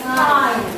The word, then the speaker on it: kind: Lalu kini bukan bacanya IND tapi kind, ya.